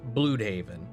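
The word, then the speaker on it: Blüdhaven: I mean, Bloodhaven with the 2 dots is pronounced Bloodhaven. There's definitely something fishy afoot.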